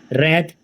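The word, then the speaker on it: wrath: ओ एन Y gluten रथ W silent W आर ए टी रेत क्रोध डब्लू आर ए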